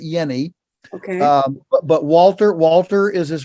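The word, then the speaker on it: Jehne: He pronounces it Yenny. Okay. But Walter is his first name. Walter Yenny.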